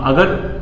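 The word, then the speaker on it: ङ: अगर आप समझ पा रहे हो तो इसका उच्चारण क्या है?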